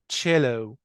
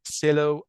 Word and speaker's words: cello: الكلمه اللي بعديها اللي هي cello، الاله الموسيقيه cello. طبعا البعض بينطقها ممكن سيلو او نطق تاني بيكون خطأ.